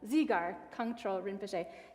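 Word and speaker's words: Dzigar Kongtrul Rinpoche: Ani Jamgyal's root teacher, and you'll have to help me with this pronunciation, is it Zigar Kongtrul Rinpoche? Yeah, Zigar. Zigar Kongtrul Rinpoche.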